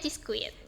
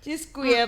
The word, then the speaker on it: Cheesecuit: Kita bacanya Cheis quit. Cheesequit.